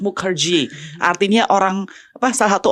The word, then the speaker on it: Mukherjee: yaitu adalah Lina Mukerji kita bacanya harus Mukerji artinya orang apa salah